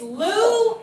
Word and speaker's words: Louisville: So what's the correct pronunciation? It's Louisville.